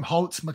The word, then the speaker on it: Holt McCallany: Fritz, which was played by, how do you pronounce his name? Holt McCallany. Oh, Holt McCallany, yeah.